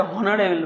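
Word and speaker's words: honourable: উচ্চারণ করতে যাদের সমস্যা হয় তারা হয়তো এটা অনারেবল বলবা কিন্তু এটা অনারেবেল না এটার একচুয়াল উচ্চারণ অনারেবল এর উচ্চারণ অনারেবল যেহেতু প্রথমে আস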